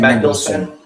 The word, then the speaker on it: Mendelsohn: Ben Mendelsohn.